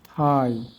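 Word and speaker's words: thigh: না ইংলিশ ওয়ার্ডে আই এর পর জিএইচ এর উচ্চারণ হয় না। যেমন হাই থাই সাই দো প্লাও নে বাও এবার আমরা অর্থগুলো দেখি।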